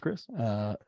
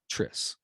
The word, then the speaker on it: Chris: Is it pronounced Chris? Tris. It's Tris. Yeah. I was always wondering because that CH.